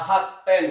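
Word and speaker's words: 発展: Cara bacanya itu adalah H ten ya.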